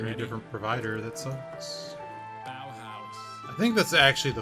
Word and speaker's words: Bauhaus: Bauhaus. I think that's actually the Fuma Shield, is what I've literally just typed out. Bauhaus is the only pronunciation.